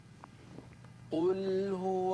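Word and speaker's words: قُلْ: কুলহু আল্লাহু আহাদ।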